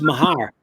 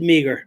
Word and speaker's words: Meagher: Rick, actually, it's pronounced Mahar. Oh, wow. But it's funny. Everybody always said Meagher.